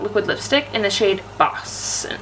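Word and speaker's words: Bawse: Smashbox Always On Liquid Lipstick in the shade Boss. And it's this one here. It's not Boss like B-O-S-S. It is spelled B-A-W-S-E, like boss.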